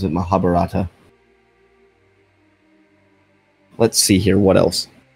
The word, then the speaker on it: Mahabharata: I believe that's how you pronounce it, Mahabharata.